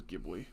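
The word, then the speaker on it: Ghibli: believe the Italian plane is pronounced jibli which is what it's named after but I think the guy who F found it literally says gibli I've been trying to change to that because that's what's right they a part of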